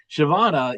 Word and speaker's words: Siobhan: So Shavana, it was a pleasure having you on. I don't know if I'm pronouncing your name right.